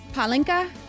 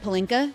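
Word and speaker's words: pálinka: A mini bottle of So this palinka is how it is pronounced. I was calling it pelinka, which I thought was really funny.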